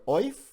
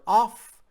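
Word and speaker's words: אויף: by to say on you'll hear it pronounced three different ways you'll hear oif you'll hear off and you'll hear off all three mean exactly the same thing fun is from arum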